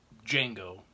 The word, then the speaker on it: Django: He's in this film who plays Django, which is why the film is named Django. He spells his name for him. He says, "Oh, the D is silent."